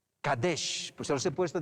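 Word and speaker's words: קדש: Primer punto, el 1 se pronuncia Kadesh. Kadesh, pues se los he puesto de paso escrito.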